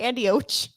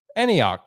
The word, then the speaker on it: Antioch: said it right anyhow why'd you say andy och because you were looking at me funny antioch california yes antioch delicious tour in